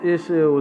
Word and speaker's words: Ixchel: Ixchel, pronounced Ixchel, is the Mayan goddess of the moon, love, gestation, the medicine, and the textual arts.